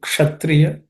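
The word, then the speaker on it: क्षत्रिय: Again, kshatriya, just pay attention because it's uk and cerebral sha, uksha.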